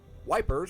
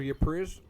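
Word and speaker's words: Ypres: So dubbed wipers by British troops due to its difficult pronunciation. The Belgian town of Yupri, the Belgian town of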